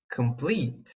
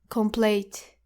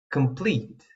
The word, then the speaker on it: complete: Remember, complete and delete do not rhyme with late and hate. They rhyme with feet and greet.